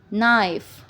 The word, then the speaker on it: knife: Okay, for example knife.